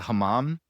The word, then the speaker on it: hammam: It's a hammam.